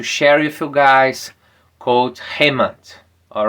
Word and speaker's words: Hemant: So for everyone hi my name is Hmon you can pro pr pronounce as hmon.